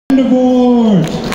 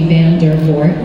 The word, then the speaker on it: Vandervoort: I mean, yes, my name is Dutch. My great-grandparents from Holland. It typically should be Vandervoort, but we Canadianized it. I grew up in Canada, so pronounce it however you'd like. There's multiple ways to pronounce it.